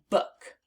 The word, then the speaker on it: book: So this word is book, book. Now let's spell it on our arms. B-O-O-K, book. Again, B-O-O-K, book. And that is the word book. And it rhymes with the word look.